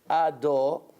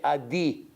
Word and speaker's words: Ado: they say Baruch Atah, instead of say Ado or Ado, that's the right way to pronounce, they say Adi. Adi. They have chirik under the dalet. This is incorrect according to all customs, not Hasidish, Sfaradish, Litvish, Yemenite. Nobody holds like this.